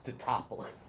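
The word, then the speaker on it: Tatopoulos: Everyone gets his name wrong, and he's just like, "It's Totopoulos."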